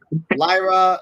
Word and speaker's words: Lyra: have to say her name right for respect Lyra Lyra Lyra V's music plays and she comes